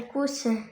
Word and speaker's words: cousin: Le cou coufin coufin cofin un coufin un cousin hein. Le S é= Z. Cousin. Un cousin.